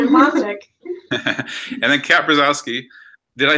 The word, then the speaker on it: Brzozowski: And then Kat Brzozowski.